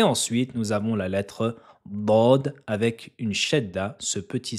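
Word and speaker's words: ض: Concernant sa prononciation, la lettre bod se prononce avec le côté gauche de la langue et doit toucher et appuyer fortement sur les molaires et les prémolaires supérieurs.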